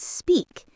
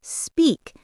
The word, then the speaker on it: speak: Or the word speak. It's speak not s peak.